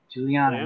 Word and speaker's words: Guigliano: g correct it's a it's a j sound instead of the g and then the second g is silent cool also a social